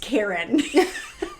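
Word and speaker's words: Coryn: weird that after it she put in parentheses pronounced Karen like the normal spelling like k a r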